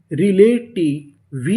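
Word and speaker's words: relative: री ले टी आई टी री ले टी वी ई। इसे पढ़ेंगे व। आखिरी में इ है। हमें उसका उच्चारण नहीं करना।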